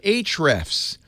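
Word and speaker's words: Ahrefs: happy to have on called H refs now that's a little confusing it's spelled a h re FS and if you know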